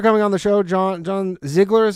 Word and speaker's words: Ziegler: Okay, so thank you for coming on the show, John Ziegler is how you pronounce it?